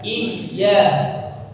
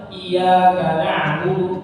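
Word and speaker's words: إِيَّاكَ: seperti ditekan iya iya karena huruf ynya ada tasydid tasydid yaitu ada dua huruf huruf yang pertama sukun kemudian huruf yang kedua berharakat itu harakatnya fathah sehingga membacanya harus ditekan tidak boleh kita baca datar saja iyaka tapi harus i ya i ya Iya dan mengangkat suaranya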